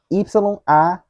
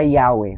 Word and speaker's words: Yahweh: deixando isso bem claro, a forma que eu irei pronunciar aqui não é necessariamente a teoricamente correta, mas são as palavras Y-A-H-W-E-H. Ou, como geralmente no Brasil se pronuncia português, Yahweh.